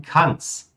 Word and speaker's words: kann es: Olha só, pessoal, nosso kann es. Vocês vão ouvir, tá? Ele vai ter essa pronúncia de kanns.